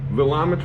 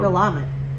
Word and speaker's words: Willamette: possible places, is from Willamette Valley, Oregon. I thought it was pronounced Willamette. It's Willamette. Google it. Willamette. Willamette. I've been putting the wrong emphasis on the wrong syllable all this time.